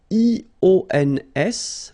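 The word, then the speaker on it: -ions: So now let's see nous, and nous goes like I-O-N-S, okay, and it should be pronounced ion. Remember, final S is not pronounced.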